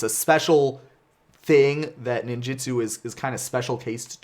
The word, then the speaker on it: ninjutsu: And I know that the right way to pronounce it is actually something like ninjutsu, I think. But here's the thing. Even though Seki's pronunciation guide really wanted me to learn how to pronounce that word several years ago, unsuccessful. And so now it is ninjutsu, and that is the way that I have always pronounced it. So even if I try